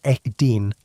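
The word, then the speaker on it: edin: The Hebrew word Eden means pleasure or delight, but it is also strikingly similar to the Sumerian word Eden, pronounced Eden, which means plain or steppe.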